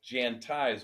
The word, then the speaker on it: Jantize: by Paul dorsy who is the CEO of jantize America thanks for joining us Paul thank you it's my pleasure make sure it's Jan ties one a one I one e everybody wants